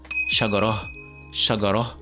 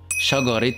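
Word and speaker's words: شجرة: Now if I stop at this word alone, then teh marbouta in this case will be pronounced as shagara with the he sound. However, if I add another word after the word shagara, then shagara in this word will be pronounced with the teh sound.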